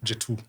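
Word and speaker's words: Jet2: And this is nothing against what G2 there's a name they call how do you pronounce J2? J2.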